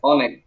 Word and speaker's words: Onik: And your first name pronounced Onik, is that correct? Onik? Onik.